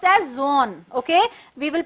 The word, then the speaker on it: Jean: down now who is gene gene is presumed pronounced as zone okay we will pronounce gene it's not gene it's zone and pure is pronounced as pure